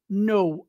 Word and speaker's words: know: usado né e aqui a gente não pronuncia o k então é o verbo no I know eu sei